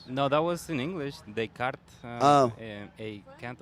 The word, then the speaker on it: Descartes A Kant: that was in English they cart oh a can't what it's French but that's how Americans pronounce it you know oh okay